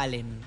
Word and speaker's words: Allen: Y me decía Antonio que se pronuncia Allen, una localidad en Río Negro donde hay hornos ladrilleros.